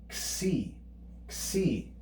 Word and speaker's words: xi: Next up, the letter xi. Xi. You can hear it's pronounced as a double consonant, ks.